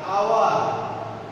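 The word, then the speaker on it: hour: যেমন হর্স, ঘোড়া, হর মতো উচ্চারিত হয়েছে সাউন্ডেড H, তার আগে A, আর আওয়ার এখানে H এর উচ্চারণটা হয় নাই, H is silent here.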